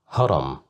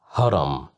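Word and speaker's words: هرم: Haram. Haram. Haram. Which means a pyramid. As you see here, we have the letter H controlled by fata. So that's why we pronounced it as h haram hood hood.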